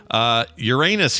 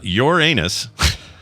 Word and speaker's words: Uranus: Uranus It's not pronounced that way. Uranus was as the proper scientists say.